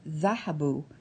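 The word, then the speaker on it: ذهبوا: You'll notice when you look at the word dhahabu that it ends with an aleph. The aleph, however, is silent.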